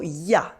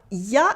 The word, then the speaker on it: il y a: We also saw ya. Ya is the informal everyday pronunciation for il y a, that means there is or there are. Il y a is something that you learn in your textbooks, but we tend to just say ya by cutting the il at the beginning.